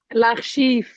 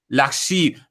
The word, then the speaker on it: L'archive: Oh, how do you pronounce it? L'archive. L'archive. Thank you.